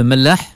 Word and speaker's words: Mellah: Un autre mot, le Mellah. Oui. Le Mela. Oui. Heureusement que c'est vous qui le prononcez, Yacine, et je vous remercie de cette initiative.